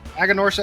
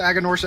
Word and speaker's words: Aganorsa: much yeah yeah Bravo but of course aganorsa aganorsa aganorsa that's how you say it and it's a great